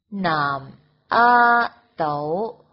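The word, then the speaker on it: 南丫岛: 南丫岛用广东话就说成南阿斗南阿斗南阿斗。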